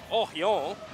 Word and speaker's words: Oryon: Now, Oryon? Well, I'm hearing the crowd, my guy. Yeah. Oryon, yeah, this is true. We're getting the pronunciation right around here.